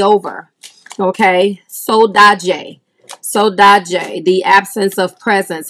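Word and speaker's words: saudade: pronunciation for that again it is pronounced soda jay soda jay is the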